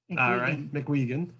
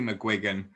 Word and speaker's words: McGuigan: for real right the the official pronunciation of my surname is mcguigan mcguigan uh there was actually there was actually a famous boxer in the 1980s called barry mcguigan uh he was famous in the uk anyway okay no relate no relation so anyone over 40 in the uk knows how to pronounce my surname but the surname is